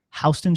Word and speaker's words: Houston: Soho in New York that's south of hon Street they say hon it's spelled exactly like Houston what is that is